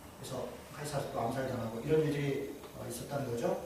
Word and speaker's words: 카이사르: 줄리어스 시저랑 예, 캐사르예요. 예. 그렇군요. 제가 그래서 캐사르가 발음이 크라시스인가? 카이사르, 캐서르, 시저 다.